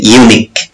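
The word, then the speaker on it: unique: এখানে এই ওয়ার্ডটিতে, ইউনিক ওয়ার্ডটিতে ইউ এর উচ্চারণ ইউ এর মতোই হয়েছে। অর্থাৎ যেমন আমব্রেলা উচ্চারণ করতে গিয়ে যেমন ইউ এর উচ্চারণ আ, কিন্তু এখানে ইউ এর উচ্চারণ ইউ এর মতোই হয়েছে, ইউনিক।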